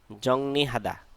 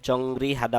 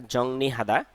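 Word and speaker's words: 정리하다: ব্যাকুয়াম cleaner পরিচালনা করা জংনিহাদা গোছানো এখানে অনেকে ভুল উচ্চারণ করে জংরি হাদা বলে কিন্তু এটা উচ্চারণ হবে জংনি হাদা গোছানো জংনি হাদা গোছানো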